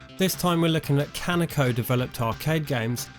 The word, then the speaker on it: Kaneko: time we're looking at kanako developed arcade games pronounced konico by us ignorant westerners and i'm joined by